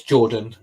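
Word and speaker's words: Jordynne: debuts of Jordan Grace I don't know how to say it it's Jordan it's Jordan it's just how she spell it so it's Jordan Grace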